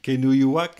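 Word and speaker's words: Kenojuak: Ça, c'est un Kenuyuak, est-ce que je prononce bien?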